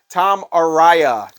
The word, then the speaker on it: Tom Araya: of crazed uh you know evil Santa Claus Tom Aria is how you say his name [ __